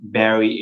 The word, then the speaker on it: Barrie: go on the website my name Barry is spelled little bit affectations is ba RR ie is a British style of saying Barry not angry the Y var ie Barry tan T am calm